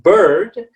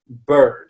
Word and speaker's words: bird: end it's beard but then bird is the sound it's kind of in the middle of this er sound okay so we say bird okay is this is